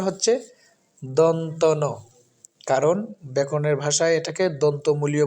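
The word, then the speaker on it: দন্ত্য ন: যন্ত্রণান্ পড়ি এরকম বিভিন্ন ভাবে পড়ি কিন্তু সঠিক উচ্চারণটা হচ্ছে দন্তন কারণ ব্যাকরণের ভাষায় এটাকে দন্তমূলীয় বর্ণ বলে এজন্য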